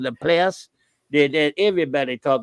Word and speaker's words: Laplace: And then Laplace is spelled L-A, capital P, L-A. She's like lay place. Everywhere called it Laplace.